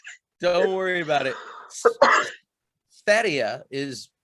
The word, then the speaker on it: Sverige: Sverige is how Swedes say Sweden. Sverige is Sweden, but said in Swedish.